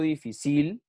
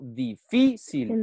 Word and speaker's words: difícil: si yo no digo difícil yo no digo difícil digo difícil no terminan última número